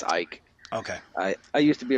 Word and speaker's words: Icke: I'm messing it up but it's Ike okay I used to